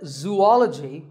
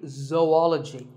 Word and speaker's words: zoology: If you said zoology, it's actually wrong. That is a very common mispronunciation. This is actually zoology. Zo and ology. Zoology.